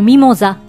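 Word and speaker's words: mimosa: 存知でしょうかミモザは男性名詞で発音は同じるミモザるミモザと言いますキズイセンは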